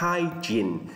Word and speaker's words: hygiene: Thì cái chữ hygiene này chúng ta đọc là hygiene. Cái âm này là âm in, là hygiene. Thầy thấy một số bạn đọc là hygiene là sai rồi, không có đúng nha. Mình phát âm chính xác hygiene.